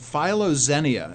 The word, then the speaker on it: philoxenia: It's pronounced philoxenia, and the only reason I emphasize it is to emphasize the two different words.